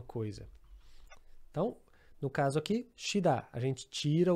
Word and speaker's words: 쉬다: Então temos o verbo 쉬다. 쉬다, aqui apesar de escrever, algumas pessoas pensariam que seria 쉬, mas não. Aqui a gente, é uma exceção de certa forma, a gente vai pronunciar 쉬.